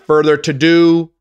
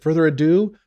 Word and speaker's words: further ado: find out so without further to do or without further ado how do you say that further ado further ado not further to do i'm a dumb ass